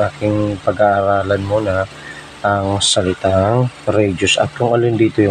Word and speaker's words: radii: to a hal radi total meron tayong tatlong radius so pag plural tinatawag natin Ong Rad Okay so Double i r a d i i radi or radii sa ibang mga pronunciation so